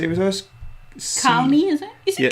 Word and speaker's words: Calne: Calney, is it? Is it Yeah. Calney? You pronounce it C-A-L-N-E? I always pronounce it Calney.